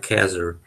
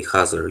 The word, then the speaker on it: Khazar: So I know you pronounce it like Khazar, and that is wrong. The real way is Russian way, Khazar.